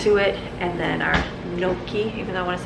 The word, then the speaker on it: gnocchi: I wanna say gnocchi, that's how I feel like I wanna say gnocchi soup, but I Googled it because I didn't wanna say it wrong and it's gnocchi.